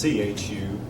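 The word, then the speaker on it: Zhu: that's by the way spelled Z hu or pronounced Chu he believed every one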